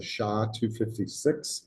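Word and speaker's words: SHA-256: By the way, um they talk about the authentication mechanisms they use here and this uses a SHA 256.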